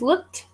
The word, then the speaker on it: looked: Now, it's the transition from the K to the T sound because when the word, how do I even do this? When the word ends with a K, the ED ending sounds like a T.